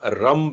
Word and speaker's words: रम: मणिपुर चक्र का बीजाक्षर रंग है और समान मुद्रा में भी रंग आर ए एन जी रंग या आर ए एम रम भी बोल सकते हैं।